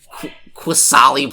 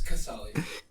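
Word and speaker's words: Qasali: pronounce quasali pride mage there's no w dude it's kassali me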